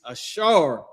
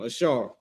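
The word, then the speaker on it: אָשֵׁר: The tribe of Asher, their name is Ashar in Hebrew. This is the pronunciation of their name, Ashar.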